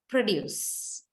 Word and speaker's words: produce: different parts of speech as in the corresponding sets of nouns with initial stress and verbs with final stress so what's the idea now you have a word produce okay you have produced